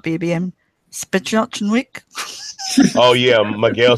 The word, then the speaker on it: Sapochnik: Spachnochnik. Oh, yeah, Miguel Sapochnik. That's it.